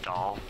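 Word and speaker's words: Dahl: D-A-H-L, which is pronounced doll.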